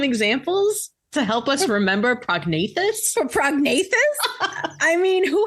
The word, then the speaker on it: prognathous: Without further ado, today's word of the day is prognathous, spelled Prognathous, pronounced prognathous.